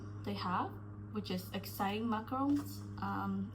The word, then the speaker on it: macaron: Um so these are the six that I got um from the first collection they have which is exciting macarons. Um in French it's pronounced macaron.